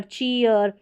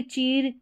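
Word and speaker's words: cheer: उच्चारण ईयर करके होगा, इसको डीर नहीं पढ़ेंगे, डियर, चीयर, ये है करियर, स्टीयर, इंजीनियर। तो यहाँ पर इस तरीके से डीर, चीर, करियर यानी करियर ही पढ़ेंगे, करीर इस तरीके से नहीं पढ़ेंगे, यानी कि डबल ई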